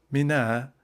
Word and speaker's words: Mina: Footnote Mina that I is pronounced very short is a suburb of Mecca and a footnote.